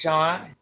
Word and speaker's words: Sean: Sean, it's pronounced Sean.